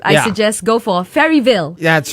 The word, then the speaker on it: Faeryville: suggest go for Faeryville. That's right, man. I said it right? You did, man. You did. Faeryville.